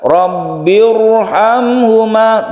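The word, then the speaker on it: رَبِّ ارْحَمْهُمَا: Ini aslinya tarqiq, tapi di sini dibaca tebal atau tafkhim. Karena apa? Karena ada hamzah wasal di sini, sehingga membaca ro-nya ini ditebalkan meskipun dia itu sebelumnya kasroh.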